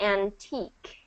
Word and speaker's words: antique: So we're not going to pronounce that ending. It's just going to be antique.